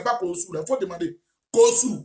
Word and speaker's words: Kossou: Kossou, comme je prononce là.